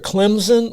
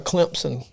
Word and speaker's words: Clemson: Depends if you're a Clemson or a Clemson person. Pronounced both ways, depending on where you're from.